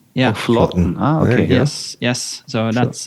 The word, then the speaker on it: Flaatten: Yeah, so the double A is Norwegian syllable Å, so it's Flaatten. Yeah, Flaatten.